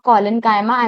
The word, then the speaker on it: collenchyma: Some students pronounce it like chyma, but it's parenchyma, collenchyma, and the last one is sclerenchyma.